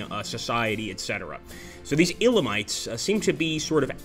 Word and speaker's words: Elamites: again the elamite SAR the Elamites I'm pretty sure it's pronounced the Elamites and let's take a